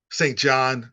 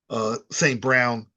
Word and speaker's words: St. Brown: You have to honor the run, and that gives you passing lanes, and that allows St. John. I mean, oh gosh, I keep getting his name wrong. St. Brown to do, and St.